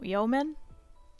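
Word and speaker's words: yeoman: is it yo man why is it silent who does that who decided that that e in the middle is silent so it's a yo ma'am yo yo man often held by senior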